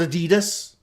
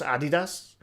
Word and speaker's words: Adidas: See, when I was growing up, it's called Adidas. But then as you got older, you realise, no, it's pronounced Adidas.